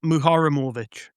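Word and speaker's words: Muharemović: I think it's pronounced Tariq Muharramovic.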